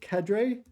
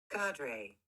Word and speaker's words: cadre: So, how's it pronounced? Is it Cadray? I honestly don't know. I presume it's pronounced Cadray. Sorry, I'll put the sound on. Let's see what we get. Carder. Carder. Cadre. Cardre. Okay. So, I didn't get either one.